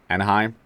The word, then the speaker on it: Anaheim: going on in inam anahim anahim how you pronounce it Anaheim yeah Anaheim I don't even know how